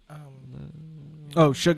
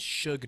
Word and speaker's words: Suge: there's an e yeah it's pronounced sugar then they had an